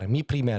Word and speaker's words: Mi Primer: Mi Primer. Yeah, that's the Spanish pronunciation.